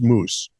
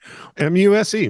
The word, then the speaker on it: Muse: members-only club named Apollo's Moose. Perhaps I've mispronounced that. Apollo's Moose. M-U-S-E, Moose. Muse. Whatever.